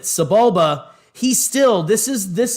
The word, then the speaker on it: Sebulba: star wars insider and we thought his name was sebial ba after we found out you pronounced it subulba he still this is